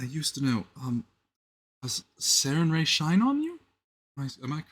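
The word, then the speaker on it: Sarenrae: Um, does Sarin Ray shine on you? Am I correct? Oh, well, hello there. Yeah, you want to say it like that. Sarin Ray shine on you.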